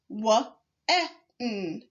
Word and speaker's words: when: You may say w-e-n, but this word is actually pronounced w-e-n, as in when did you get here? The WH in this word is a tricky part of the word. The W and the H is pronounced w, not w, because the WH is a digraph. The E in this word is pronounced exactly as you would expect, and so is the N in this word. When reading when, we pronounce the WH as w.